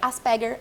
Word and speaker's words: Asperger: É Asperger a pronúncia, porque ela é uma palavra alemã.